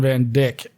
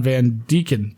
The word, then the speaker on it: Van Deacon: Oh, and just to clarify, my name is not Van Dyck. It's Van Deacon. Deacon is pronounced like deacon, the position one can get at a church.